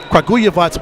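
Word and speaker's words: Kragujevac: so i got it it's the crow yavats kaguyavats wild boars of the cefl you nailed it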